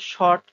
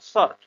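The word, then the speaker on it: sort: এটা উচ্চারণটা আসলে সর্ট বলবো না, এটা আসলে শর্ট বা এই টাইপের কিছু না, সর্ট। ঠিক আছে?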